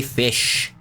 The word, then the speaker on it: Ghoti: Those who don't know, I am Fish. G-H-O-T-I, Fish. That's how it's spelled, and that's how you say it.